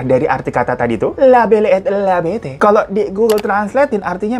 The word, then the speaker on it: La Belle et la Bête: Dimana dia menulis sebuah cerita berjudul La Belle et la Bête. Mohon maaf tapi ini bahasa Perancis ya, bukan Betawi. Jadi bacanya harus ada logatnya gitu. La Belle et la Bête.